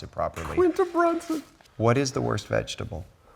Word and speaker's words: Quinta Brunson: John Travolta called it Quinta Brunson, but I'm glad you know how to pronounce it properly. Quinta Brunson.